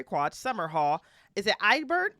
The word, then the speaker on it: Edinburgh: Is it Edinburgh? Edinburgh. There we go. Put some respect on my pronunciations.